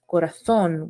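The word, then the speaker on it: corazón: they neutral the sound which in castilian spinach is many times pronounced with a th sound so this is called cesel so in words such as corazon in spanish it would be pronounced corathon with the th sound however in ceselo on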